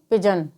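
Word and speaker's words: pigeon: पिजन। Rule number 2, शेष जगहों पर जी का उच्चारण ग होगा।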